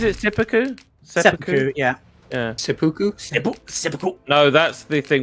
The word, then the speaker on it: Seppuku: Was it, is it Sippuku? It's endlessly funny. Yeah, how do you pronounce that? Is it Sippuku? Is it Sippuku? Sippuku, yeah. Yeah. Seppuku?